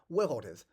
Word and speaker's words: weraldiz: The concept of world that we know nowadays was in the days of Proto-Germanic pronounced wereldes. Wow, so I guess 3 syllables.